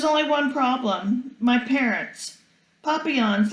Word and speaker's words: papillon: i hope we get a papillion like our neighbor's dog you say it like this papillon in french it means butterfly i think fancy nancy